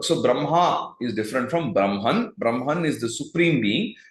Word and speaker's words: Brahma: Brahma is different from Brahman Brahman is the Supreme Being Brahma with the dega long syllable at the end is the god of